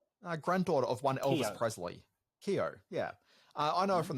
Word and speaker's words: Keough: How do you even pronounce her surname? Granddaughter of one Elvis Presley. Keough, yeah.